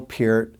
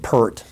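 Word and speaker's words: Peart: right about this um I said per for many years until I discovered otherwise so anyways Neo Pier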